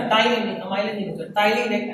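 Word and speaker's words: ptyalin: Salivary एक enzyme था, टाइलिन, अमाइलिन नहीं होता, टाइलिन एक एंटी, मतलब यूं बोलो कि एंटी बैक्टीरियल एजेंट है टाइलिन, PTYLIN, वहां पे साइलेंट है।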